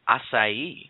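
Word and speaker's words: açaí: here on a small issue but it's actually pronounced assai asai thank you this this was today's culture lesson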